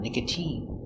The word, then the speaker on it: nicotine: with the sound e like nicotine use the e sound nicotine and sometimes it sounds